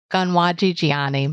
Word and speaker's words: Konwatsi'tsiaienni: So I will pronounce it, but my pronunciation is not great. Konwatsi'tsiaienni Molly Brant.